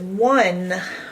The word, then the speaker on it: one: One is a strange one because it starts with an O, not a W. You would think one would be a W, but it's not. It starts with an O. The N sound is normal. One. But then there's an E on the end.